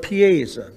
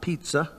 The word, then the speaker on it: Pisa: One of the reasons is because of Piesa, P-I-S-A, we spell it, not pizza.